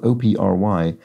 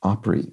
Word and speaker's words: Opry: uh points out that the music venue spelled o p r y is derived from Opera so it is pronounced Opry rather than Opry and